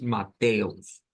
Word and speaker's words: Mateus: Mateo, nosotros decimos Mateo, en este caso es Mateus, poniendo como la sílaba tónica donde hay fuerza de voz o donde está el acento en la TE propiamente.